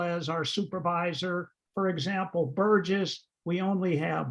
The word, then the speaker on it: Burgess: And just something to note as you're calling to make appointments, it's Burgess with a hard G and Joya with a soft G.